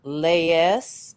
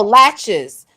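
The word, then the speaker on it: laches: So, uh lees I think is how it is pronounced. Um Oh, latches. So, it's like latches. That's how it's pronounced.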